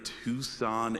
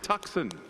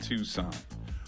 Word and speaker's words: Tucson: And Nicole started her career in Tucson, Arizona. Yes, some pronounce it tuxen, but now she's our main anchor in the big city of Phoenix, Arizona.